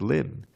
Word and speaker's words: limn: Now you may not know this word limn, not L-I-M-B, but L-I-M-N, which means to describe. It's a rare word, but it rhymes with hymn, H-Y-M-N, so I use it.